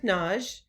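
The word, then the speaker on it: Nagy: to pronounce my name it looks like a two-syllable name n-a-g-y but i use the hungarian pronunciation which is naj it sort of rhymes with taj and taj mahal so that's one way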